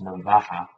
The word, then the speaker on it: Navaja: That's how I pronounce it, just Navaja.